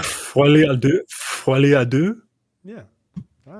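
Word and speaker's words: folie à deux: What's the proper pronunciation? Folie A Deux.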